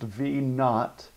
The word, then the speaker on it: V naught: This little word right here, it is pronounced V naught. It's a little zero next to it.